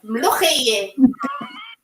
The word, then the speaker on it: mloukhiya: She said, no, it's mloukhiya. So I have to like cut out the extra O, mloukhiya.